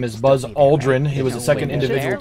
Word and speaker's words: Aldrin: It's Aldrin, not Aldrin. So if you're a history buff, learn to pronounce his name correct.